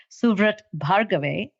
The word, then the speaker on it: Suvrat Bhargave: dear friend and his name name is officially pronounced suat bave but I think he also is fondly known